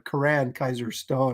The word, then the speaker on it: Coran Kizer Stone: to join us again please welcome Corin sorry Karan Kaiser Stone I've been mispronouncing his name all this time hey bud okay I'm